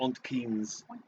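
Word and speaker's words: Ontkean: I don't know that I've seen many of Michael Ontkeen's. I believe it is the pronunciation. He's not keen, is he? He's not. He's Ontkeen.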